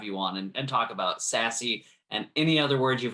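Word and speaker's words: SASE: mean um you know i think sassy is that how they pronounce it sassy that is yeah have i have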